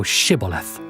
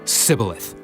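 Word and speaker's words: shibboleth: said they unto him say now shiboleth and he said sybileth for he could not frame to pronounce it right then they took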